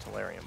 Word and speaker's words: tellurium: Technically, it's pronounced tellurium, but I also don't give a fuck.